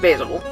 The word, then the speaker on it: Basil: I pronounce it Basil.